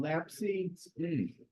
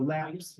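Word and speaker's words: Lapce: There's one out called Lapsy, or Laps. I think it's pronounced Laps.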